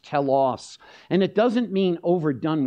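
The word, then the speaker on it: τέλος: end in Romans 10:4 it's pronounced tellos and it doesn't mean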